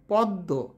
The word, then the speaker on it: পদ্ম: মধ্যে ম ফলা থাকলে সেই বর্ণ উচ্চারণে দীপ্ত হয় এবং সামান্য অনুনাসিক হয় যেমন আত্মীয় পদ্ম কিছু ক্ষেত্রে ম ফলায়